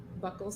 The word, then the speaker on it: buccal: Ibarra's DNA, you first tried buccal swabs? Yes. Okay. I learned today that they're pronounced buccal, not buccal.